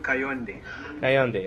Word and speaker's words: Kayonde: say say it for us please I'm condi hey on day okay thank you very much we're doing our